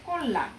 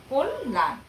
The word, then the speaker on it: কল্যাণ: চেষ্টা করছি এরপর আসছে কল্যাণ হ্যাঁ ক এর সাথে অ উচ্চারিত হচ্ছে আদ্য অ সেক্ষেত্রে এটি কি হচ্ছে মানে উচ্চারণ অ এর উচ্চারণ ওকারের মতো হয়ে যাচ্ছে কল্যাণ ঠিক আছে এরপর আমরা